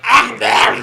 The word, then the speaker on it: Akbar: It's super hard to explain over chat, so instead of just saying Muhammad Akbar, you have to pronounce the Akbar like you're choking on something when you get to the K. Muhammad Akbar!